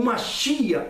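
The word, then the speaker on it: מָשִׁיחַ: O segundo nome Messias, no hebraico se pronuncia o Machia, ou Messias para nós brasileiros, mas Machia para o judeu.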